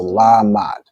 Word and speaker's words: Lamad: Okay, so la is pronounced fully. The ma and da are joined. So la mad.